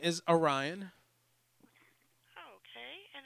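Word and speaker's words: Aryan: My name is Orion. Okay. And how do you spell that? Ryan with an A at the beginning, A-R-Y-A-N.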